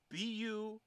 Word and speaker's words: Burcu: I've met 3 people from Turkey that were named Burju. You mean bourgeois? Burju. Burcu. But the C is pronounced with a Z.